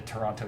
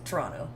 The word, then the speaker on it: Toronto: a churro Toronto yeah soft teas all around there shouldn't even be any teas in that word Toronto right I want